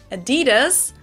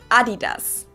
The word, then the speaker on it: Adidas: were referring to, because they usually pronounce it Adidas, and in Germany we say Adidas. Adidas, Adidas. Super different.